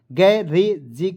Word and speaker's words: garage: देखिए गै रे जी, देखिए जी का पढ़ेंगे ज, तो देखेंगे GAR